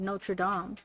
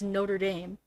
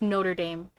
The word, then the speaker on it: Notre Dame: it at first i i said i said no tradom like that's how i would say it but then my mom was like no it's notre dame yeah because there are like colleges here that